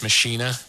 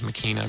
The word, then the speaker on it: Machina: But yes, the Latin pronunciation is Machina, but it doesn't quite have the same ring to it.